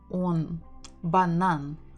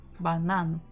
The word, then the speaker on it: банан: So it has to be on, банан, банан.